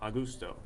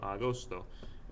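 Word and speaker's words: agosto: put gusto you know no one's ever said in my class ever a gusto people always say ghosts Oh spell it like it sounds AG o sto a ghost oh if you're not listening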